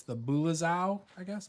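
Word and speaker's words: Bulezau: And those were the, I'm going to say it wrong again, but it's the Bulazau, I guess. Bulazau.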